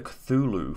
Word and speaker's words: Cthulhu: it's been a while how do you actually say it uh cthulhu you got to write the first time